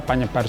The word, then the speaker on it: Panjebar: menggagas pendirian majalah Jawa Penyebar Semangat Kenapa Dek namakan Penyebar Semangat ya tulisannya kalau ejaan sekarang panjebar Tapi bacanya penyebar Karena itu adalah ejaan lama ya penyebar itu asalkan tanyakan